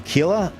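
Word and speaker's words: Aquila: Uh the the achila, is that how you say it?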